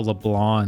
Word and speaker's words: LeBlanc: Oh, LeBlanc. That's how you say it. They don't pronounce the C at the end. It's a LeBlanc.